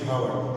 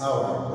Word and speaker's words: hour: The sound H here or the letter H here is silent. Don't say hour, it's hour, okay?